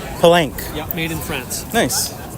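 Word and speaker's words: Pellenc: And um and what's how do you pronounce the brand? Pank. Pank.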